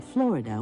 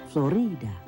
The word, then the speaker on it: Florida: The people who lived there called the land Cautio, but over time the name Florida was accepted. The Spanish pronounced the name with the emphasis on the middle syllable, Florida.